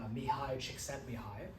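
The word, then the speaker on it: Mihaly Csikszentmihalyi: This comes from someone with a really weird spelling for their name, but it's pronounced mihi chickent mihi.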